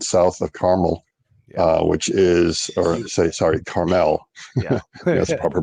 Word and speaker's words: Carmel: a little bit south of Carmel, which is, Carmel. Yeah. That's the proper pronunciation.